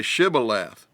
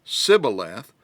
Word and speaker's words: Shibboleth: say to him then say Shibboleth and he would say Sybil F for he could not pronounce it right then they would take